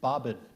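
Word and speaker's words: bobbin: word has a near homonym the word is bobin and it is a spool as on a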